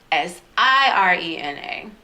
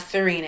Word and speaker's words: Sirena: it and i said s-i-r-e-n-a and my mom used to hate it when people would call me serena y'all name is siren and like sirena that's it's not serena it's i'm like